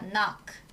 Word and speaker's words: knock: 자, 여러분 발음이 knock입니다. knock.